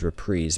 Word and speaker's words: reprise: Now, I know reprise is pronounced by many as repreeze, but I speak English, too. So, I get to pronounce it however I want.